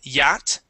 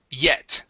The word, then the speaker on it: yet: Here you had said yat, ya. Okay. It's going to be a short E sound. Yeah. Yet.